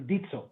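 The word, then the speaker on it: Ditsö: do I pronounce that that will be pronounced as dito dito that in the language of the Bri which is one of the eight tribes in in town like Costa Rica Central America means seed so the word dito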